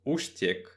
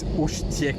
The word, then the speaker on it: Úštěk: I think it's Ustiek. Uštek, okay. Because they have one E with the hachek there.